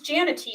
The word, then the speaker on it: Janity: Her name is Janity, spelled like manatee with a J.